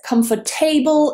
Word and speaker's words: comfortable: I hear this pronounced as comfortable and comfortable quite a lot. Comfortable. Comfortable. How many syllables am I pronouncing this with? Three.